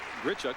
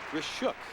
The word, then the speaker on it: Grishuk: It is not Grichuk but Gishuk.